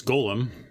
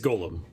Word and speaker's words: golem: i really think it's golem yeah it's like it's hebrew all right well we